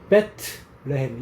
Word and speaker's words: 베들레헴: 그래서 베들레헴을 발음을 어떻게 해야 돼? 베트레헴 이렇게 해야지.